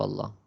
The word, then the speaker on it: Allah: We pronounce a heavy when the letter before the word of Allah has a fatha or dhamma on it.